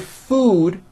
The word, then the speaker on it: food: show you the word food has a double O and it's pronounced as Ooh food okay but the